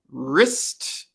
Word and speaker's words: wrist: one oh two more wrist here's my wrist here's my watch on my wrist the w is silent and the last one